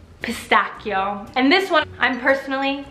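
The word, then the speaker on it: pistacchio: Bruce get da Bruce cata because Italians do pronounce eh cup like a K pistachio right pistachio we like pistachio ice cream the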